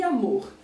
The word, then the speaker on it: amor: E na palavra amor também acontece a mesma coisa. Amor. Então, o mor é a sílaba mais forte da palavra.